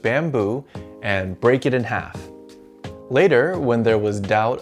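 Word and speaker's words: 哈: It's pronounced ha.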